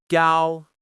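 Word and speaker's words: 高: Gal, which means tall or high. Again, high and steady. Gal. Keep it smooth without changing your pitch.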